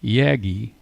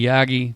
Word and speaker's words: Yagi: When radio amateurs discuss a Yaggi, what are they talking about? Or is that a yagi? Yaggi. Yagi. Potato. Potato. You know, using the Japanese pronunciation, I'd say it would have to be Yagi.